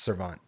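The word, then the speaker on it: servante: pronounced serve on not serve on teh sorry I did not know it I just googled it while you kept saying it and it is the e is silent it's serve on also Shin Lim put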